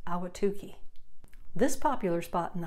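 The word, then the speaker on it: Ahwatukee: want a cold shower this community in the East Valley is pronounced ala Tookie this popular spot in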